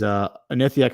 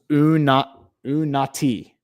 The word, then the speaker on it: Unati: Says, Unathiok, sorry. Okay. It says, sorry, it's pronounced Unati. Unati.